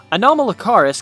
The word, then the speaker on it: Anomalocaris: Anomalocaris can be remembered simply as Anomaly and Caris fused into one word, kind of similar to the way Canadia is constructed.